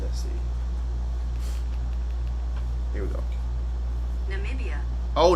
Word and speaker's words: Namibia: sound kind of hot oh I was saying nambia that sound dry what n Namibia Namibia I might name my child that you think about that you that not RO with that Namibia Namibia Namibia but um